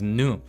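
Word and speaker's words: ぬ: Well, by process of elimination, because it's not the other three, it's nu. Oh, canoe. Yes, like a canoe.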